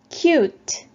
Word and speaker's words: cute: 마찬가지로 U 발음이 나고 뒤에 E는 발음이 나지 않습니다. cute, cute.